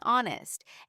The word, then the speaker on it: honest: Why is there a K in knife, an H in honest, and a W in right if we never say them?